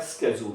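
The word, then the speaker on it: schedule: होता है, प्रोग्राम या शेड्यूल, ठीक है। इसके लिए एक वर्ड होता है स्केड्यूल, मतलब वर्ड वही होता है, इसका प्रोनाउंसिएशन थोड़ा डिफरेंट होता है, इसको बोलते हैं स्केड्यूल।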